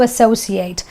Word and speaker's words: associate: I'm telling you not to do something, not to associate. But here the ate is pronounced as 8, the number 8, because it's a verb, right? So it's associate.